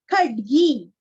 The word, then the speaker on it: खड्गी: सन्नद्ध, विसर्ग का हल्का सा ख, सन्नद्ध, सन्नद्ध, कवची, ची दीर्घ, खड्गी, खड्गी, यहाँ पे ड का उच्चारण आधा ही करना है और गी दीर्घ, खड्गी, चाप बाण धरो युवा,